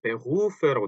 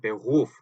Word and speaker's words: Beruf: 자, 요거 가지고 발음을 되게 좀 힘들어하세요. 왜냐하면 요 독일어의 R 발음이 때문인데요. 이거를 어 일단 원형은 Beruf죠. Beruf 요렇게 써 놓고 나서 이거를 읽어 보세요. 그럼 Beruf 그 우리말로 치면 Beruf 정도 되겠죠. 요 루 때문에 많이들 어려워하시는 거예요. 근데 이걸 정확히 읽으면 Beruf거든요.